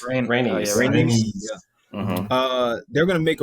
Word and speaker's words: Rhaenys: The queen that Rhaenys. Rhaenys.